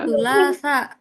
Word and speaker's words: الثلاثاء: Nah, ini teman-teman cara bacanya. ثلاثة. Sulasa.